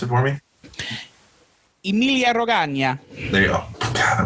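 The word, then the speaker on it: Emilia-Romagna: And so what pronounce it for me? Emilia Romagna.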